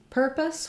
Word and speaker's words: purpose: the word purpose so for purpose we have first syllable stress and letters you are say the ER sound we do spell ER with ER you are so in purpose or turn it's spelled with you are it's a stressed ER so you might see it in the dictionary like that per thus or some dictionaries will write it with a schwa and an R but